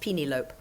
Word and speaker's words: Penelope: good my mother said Penelope was a nice name in Holland because it's pronounced peeny lope that didn't help either